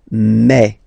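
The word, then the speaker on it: mes: aspect of it then remember that this a s here combined will give you the sound e okay so you'll pronounce it like me me me okay so logical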